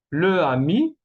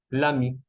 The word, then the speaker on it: l'ami: Le ami no se dice, entonces vamos a decir l'ami, ¿ok? Que es más fácil a pronunciar l'ami que le ami.